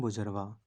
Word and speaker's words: bourgeois: इसको पढ़ते हैं बुजरवा। BOURGEOIS। इसकी स्पेलिंग अलग है लेकिन इसको प्रोनाउंस अलग करते हैं।